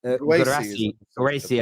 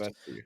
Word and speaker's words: Guirassy: Is it Guirassy, I think it's pronounced. Guirassy.